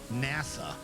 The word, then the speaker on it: Nasa: The story follows protagonist whose name is written with the characters Hoshizora, Starry Sky in Japanese, but whose name is pronounced as NASA.